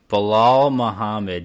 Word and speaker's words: Bilal Muhammad: Bilal Muhammad, you said it right, man.